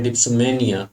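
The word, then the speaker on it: dipsomania: डिप्सोमेनिया, ये pronunciation है डिप्सोमेनिया, मेनिया नॉट मैनिया।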